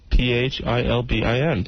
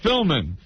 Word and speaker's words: Philbin: and Kathy Lee Gifford I thought the B was silent Regis Philman oops you've never heard